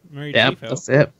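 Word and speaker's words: Mary Chieffo: I don't know if the Klingons are going to be mostly things from the flashbacks, but although Mary, I can't ever pronounce it. Mary Chiefo.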